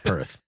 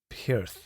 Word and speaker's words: Peart: It's got an ear sound because that's what Mike Portnoy taught me. Okay. That Mike Portnoy has a fun story where he was saying his name wrong for years, and then finally Neil corrected him himself and says you have to make sure you emphasize the ear sound.